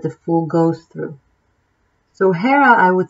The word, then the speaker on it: Jera: Jera, written Jera, J-E-R-A, but it's pronounced Jera, as if H-E-R-A.